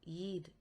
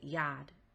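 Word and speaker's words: Yod: The first letter in Yahuah's name is the Yid letter. This letter is called Yad in modern Hebrew, but they mispronounce it because this letter actually has an E vowel sound. The Yid symbol has a E sound.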